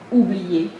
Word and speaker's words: oublier: Ensuite, il y a le U qui est associé au O, qui devient OU, et qui devient beaucoup plus facile, puisque c'est comme le U espagnol de uva, ou. Oublier, par exemple.